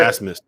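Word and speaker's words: Abmas: Well, I want to hear you pronounce Oral Roberts' best player's last name because it is spelled. What is it? Asmus.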